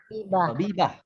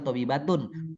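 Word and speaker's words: طبيبة: tobibah. Iya betul. Jadi tidak perlu dibaca tobibatun, tobibah.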